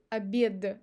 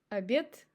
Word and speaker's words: обед: And now we say друг, обед и этаж. Now before another unvoiced consonant. Ложка, водка и лавка. As you see, we don't say ложка. So we pronounce sh instead of zh because of k.